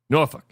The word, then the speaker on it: Norfolk: I I I think a good one is like in Virginia Norfolk Virginia. Norolk.